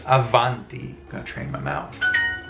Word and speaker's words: avanti: labial proximate you know between the b and the v like there is in spanish but it's not avanti it's avanti i'm gonna train my